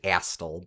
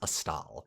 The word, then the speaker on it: Astal: I think I've previously pronounced it Astal, but I learned since last time it is Astal.